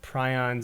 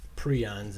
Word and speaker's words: prions: every time but you know you talked about prions and proteins and this is not a living